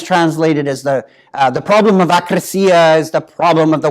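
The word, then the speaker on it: ἀκρασία: Another one you should be aware of and trying to avoid is akrasia. Sometimes it's pronounced acrasia. Well, that's heavily importing it into English.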